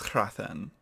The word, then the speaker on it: Hrathen: I was very, what put me off, I believe this is Hrathen. I believe, again, Hrathen. Like, come on, how do we pronounce that?